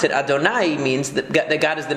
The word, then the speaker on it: Adonai: And the way that we pronounce it, Adonai, means that God is the master of the universe.